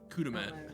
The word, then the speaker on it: Kudamat: Kudamat. Kudamat. Kudamat. I'm just gonna assume that's spelled K-U-D.